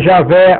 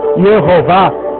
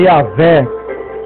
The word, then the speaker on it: Javé: rápida ou mais pausada algumas pessoas pronunciam o nome sagrado de Deus como Jeová eu adaptava paraa portuguesa como Jeová no entanto a pronúncia certa é yavé esta divergência divergência de